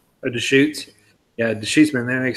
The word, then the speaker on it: Deschutes: John says Deschutes is how you say Deschutes.